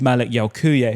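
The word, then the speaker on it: Malick Yalcouyé: Bonote and of course Malik Yaoku who I've been told to pronounce like that.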